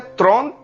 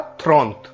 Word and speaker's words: trente: 30 को हम फ्रेंच भाषा में बोलते हैं त्रोंत या थ्रोंत, त्रोंत, त्रोंत। Sometime we also call थ्रोंत, थ्रोंत। थ्रोंत means 30। त्रोंत oblique थ्रोंत, what ever is comfortable to यू।